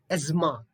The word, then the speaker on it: asthma: mojito, mojito, mojito, mojito, Here, this is most common word, but most often we pronounce it in a different way. It should be asthma, asthma.